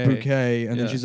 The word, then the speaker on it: Bucket: Her last name's Bucket, but she pronounces it Bouquet, and then she's like ashamed of her white trash family.